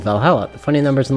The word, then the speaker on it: VA-11 Hall-A: The name sounds silly and a bit hard to pronounce. Good thing it's actually called Valhalla.